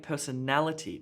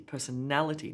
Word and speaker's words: personality: have less emphasis personality she has a great personality personality na na na gets the emphasis there how do we know